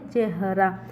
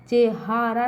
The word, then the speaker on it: चेहरा: चाह, चेहारा नहीं पढ़ेंगे, चेहरा पढ़ेंगे ना, तो बच्चों यहाँ पे ह में आ का उच्चारण नहीं निकल के आ रहा है, ठीक है।